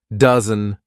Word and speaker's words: dozen: we saw a dozen this is an a sound dozen dozen and what kind of